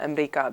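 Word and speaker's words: أمريكا: grandmother would call America Ambria because that's the way that it's pronounced in formal Arabic.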